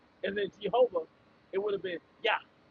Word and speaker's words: Jehovah: Jehovah. G. There's no J sound in the Hebrew.